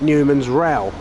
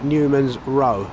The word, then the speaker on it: Newman's Row: isn't your first language somebody might call that newman's real but somebody's put their r o as in newman's row which is how it should be said somebody's phonetically helping everybody